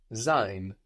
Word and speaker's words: sein: To be, in German, to be is sein, sein. Sein. How do you think that's spelled? S-E-I-N. Good, an S there, no? Giving us a Z sound.